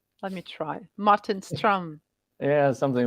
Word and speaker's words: Ström: um I mean um English speakers would pronounce it Martin Strom but if you happen to speak Swedish it would be Martin strum which is somewhat different let me try Martin strum yeah something like that